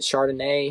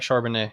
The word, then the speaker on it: Charbonnet: Was it Chardonnay? How do you say that, Chardonnay? Zach Charbonnet, yeah.